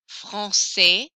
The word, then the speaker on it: français: Français, français, sport, sport, vous, vous, salut, salut. So I don't hear those final consonants. I hear everything up until the final consonant.